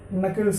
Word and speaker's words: knuckles: Knuckles, here K is silent.